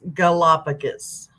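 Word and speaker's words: Galápagos: same person uh just my English teacher over here is Galapagos is how you pronounce it get a lot of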